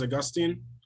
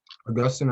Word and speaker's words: Augustine: As Augustine? Augustine or Augustine, it literally doesn't matter. Augustine.